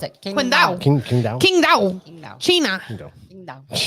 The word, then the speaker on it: Qingdao: You pronounce it Qingdao.